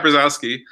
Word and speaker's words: Brzozowski: And then Kat Brzozowski.